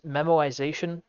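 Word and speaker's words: memoization: um next up is memorization um that is not me mispronouncing memorization memorization is uh pretty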